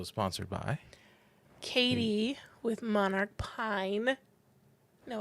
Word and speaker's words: Monarch Pine: So today's episode is sponsored by Katie with Monarch Pine.